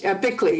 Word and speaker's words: Bickley: So thank you so much for Bickle has her hand up. Oh, okay. Thank you very much. Bickley is how you pronounce it.